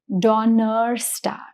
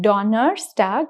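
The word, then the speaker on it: Donnerstag: So the pronunciation is donor stag. Okay. If you compare it with montag which is o n single n the pronunciation is montag. But if you look at the pronunciation of donor stag it is a little stretched.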